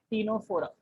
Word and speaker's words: Ctenophora: not Cnidaria, is called Ctenophora, where C is silent. Okay. Ctenophora.